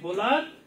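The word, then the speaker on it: Wöhler: জৈব সয়নের জনক এটার ন্সারটা কি বল ফেড্রিক ভোলার বা জার্মান ভাষায় বর উচ্চারণ কি হয় ডর মত বা বলতে পারি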